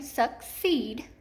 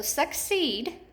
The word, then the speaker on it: succeed: So if I say that word with my hand under my chin, succeed, I know that this is accented in the second syllable. So succeed, it's the double E